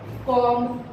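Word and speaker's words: comb: कॉम, pronunciation अगर हम देखें तो कॉम होती है, लेकिन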